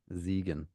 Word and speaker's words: Siegen: I probably would be if you pronounced it correctly. Something tells Siegen, me that's Siegen, not Siegen. S-I Yeah, give it to me. Siegen. Yeah. Ziegen. All right. Well, you know, The S there would be a you Z.